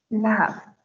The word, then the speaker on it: laugh: Por ejemplo, en el verbo la, reír, esta GH al final de la palabra la suena como si fuera una F, aunque no esté escrita la F. Laugh.